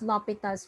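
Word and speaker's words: L'Hôpital: differential calculus what is lopital's rule we pronounce this as lopita's rule hello are you all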